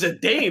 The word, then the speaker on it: Zidane: His name's Zidane. I've never heard it pronounced any other way.